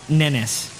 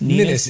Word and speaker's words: Ninness: James Ninness. Correct. Ninness? Ninness. It rhymes with Guinness.